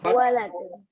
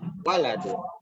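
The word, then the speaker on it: وَلَدٌ: Nggak ada yang panjang, berarti ditekanin di huruf Waladun. Waladun. di huruf pertama, yaitu waw. Waladun.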